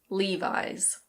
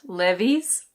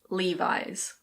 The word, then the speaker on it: Levi's: And now we have a well-known American brand, which is pronounced Levi's. Levi's. It's not Lev-ees. It's Levi's.